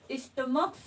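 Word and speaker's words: stomach: च आ रहा था, लेकिन स्टमक में यहाँ पर साउंड जो निकल रहा है वो किसका निकल रहा है? क का साउंड निकल रहा है।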